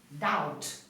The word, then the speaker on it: doubt: number ten doubt okay we do not pronounce the letter B doubt number eleven guide number